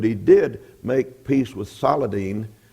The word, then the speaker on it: Saladin: He failed to retake Jerusalem, but he did make peace with Saladin, or Salihadin, some as he's sometimes pronounced, the Egyptian, and they